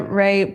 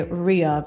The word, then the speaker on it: Rea: Yeah, Ray. I would say Ray. Yeah. Because it's spelled R-E-A. So I feel like sometimes I want to say Ria, but it's like, no, it's Ray.